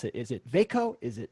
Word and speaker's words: VACO: how do i actually pronounce it is it vaiko is it voco and whatever gets said right now is actually the answer since you guys made this up it's veikko fako fair enough thank you our whole team